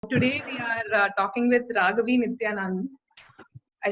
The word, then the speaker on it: Raaghavi Nityanand: Today we are talking with Raaghavi Nityanand.